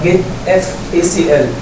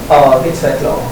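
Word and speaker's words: getfacl: كنترول ليست اللي هو جيت اف اي سي ال. جيت فاكل تمام؟ جيت فاكل او جيت فايل اي سي ال او جيت فايل اكسس كنترول ليست ايا كان النطق مش هتفرق خالص.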